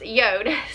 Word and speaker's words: Jord: So if you've never heard of Yode before, they are actually spelled J-O-R-D, but they're pronounced Yode.